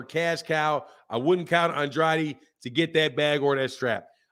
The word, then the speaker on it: Andrade: Susie it's uh nah I keep saying Andre his name is Andrade but Demetrius Andre you